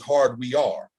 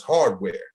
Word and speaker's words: Hard We Are: But they wasn't Hardware; they was Hard We Are. But people used to pronounce it as Hardware, so they just said,